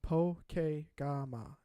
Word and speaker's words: Pokegama: Pokegama. Pokegama is the pronunciation.